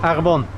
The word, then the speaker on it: Arfon: say your name again so i get the pronunciation right Arfon ...